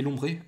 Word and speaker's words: Lombré: Alors, au niveau des prononciations, déjà, c'est Dracarmin et pas Dracarmine. Je sais pas pourquoi j'ai dit ça. Et Lombré et pas Lombre.